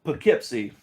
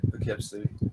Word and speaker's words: Poughkeepsie: I'm not even sure how you pronounce that place. Oh, Poughkeepsie. All right, Poughkeepsie.